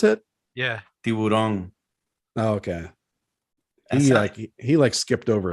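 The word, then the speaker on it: tiburón: Is that how you pronounce it? Yeah, tiburon.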